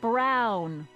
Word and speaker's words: Brown: That's Emmet Brown. Rhymes with clown, which I'm beginning to think you are.